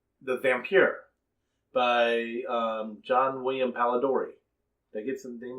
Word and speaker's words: Polidori: vampyre by John William pallid Ori that gets them game right Polidori is correct may have his first